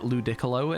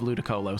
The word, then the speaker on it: Ludicolo: mispronounce but then again I do know a person who called it Ludicolo instead of lud Colo so you know just depends what you put emphasis in a word doesn't it Chipotle is Chipotle